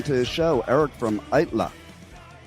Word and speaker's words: Aittala: So, let's welcome to the show Eric from ITLA.